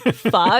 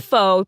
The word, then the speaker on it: pho: Especially ones that, you know, imply that pho rhymes with show. Or that it's pho. Yeah. Oh, yeah. That is my biggest pet peeve. It's pho. It's not faux.